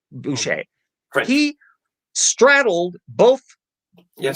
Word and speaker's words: Boucher: familiar with anthony boucher e-o-u-c-h-e-r is how it's spelled it's boucher but he straddled both